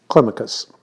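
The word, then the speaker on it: Climacus: uh jungle meckers just to give people uh clemicus is the way it's typically pronounced um he he lived um for 80 years he died in 603.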